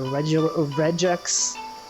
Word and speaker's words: regex: That's how you pronounce it. A regex. It is regular.